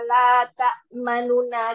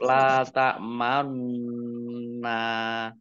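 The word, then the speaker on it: لا تأمنا: Ya enggak, ismam itu mecucu. Dibacanya mecucu. Tetap la tak manna. Nah, ya, dibaca dibaca mencucu. Biasa tapi mulutnya mencucu. La tak manna. La tak manna. Mulut anunya bibirnya mulutnya mencucu. Ini namanya ismam.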